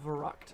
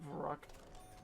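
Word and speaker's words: Verrückt: next up we have verruckt or verruck i used to pronounce it veruc back in the day but now i pronounce it for rock um which means crazy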